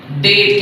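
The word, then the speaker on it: debt: जी ई बी डी इसको पढ़ा जाता है डेट।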